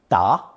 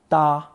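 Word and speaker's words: 答: respond answer or reply is usually pronounced second tone da but in some phrases first tone da examples with first tone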